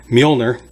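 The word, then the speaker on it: Mjölnir: Thor Ragnarok, he lost his most commonly no weapon, Mjolnir. That's how you pronounce it, in case you didn't know.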